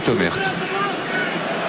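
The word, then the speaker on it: Thomert: pour laisser entrer Olivier Tomert. Tomer hein, il paraît qu'il faut pas prononcer le thé.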